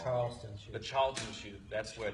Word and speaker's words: Charleston Chew: Massachusetts is actually suing the Carolinas for stealing the candy that they always liked, which was the Charlton chew. That's Charleston chew.